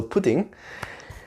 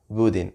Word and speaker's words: pudín: Pudding, pudding, instead of pudding, pudding, pudding. Or even pudding with the p sound, but pudding, the stress is in the e sound there. So pudding, pudding, pudding, pudding.